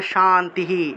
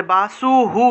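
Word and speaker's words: শান্তিঃ: মনে করেন যে শান্তি বিসর্গ আছে বিসর্গ থাকলে হ উচ্চারণ হবে।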